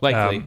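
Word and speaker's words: Lykke Li: Like Lee or Likey Lee, or what I'm talking about? Like Lee, yeah.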